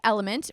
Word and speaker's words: LMNT: So the link is Drink Element, but Element is spelled LMNT.